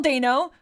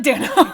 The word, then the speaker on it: Dano: So Paul Dano, who we found out recently is pronounced Dano, not Dano. Yeah, we watched an interview of him going over his famous characters on YouTube, and he pronounced his own name Dano, and we've always pronounced it as Dano.